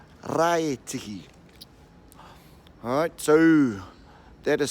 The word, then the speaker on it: Raetihi: Okay, not Raetihi, Raetihi. Alright, so that is spelled R-A-E-T-I-H-I.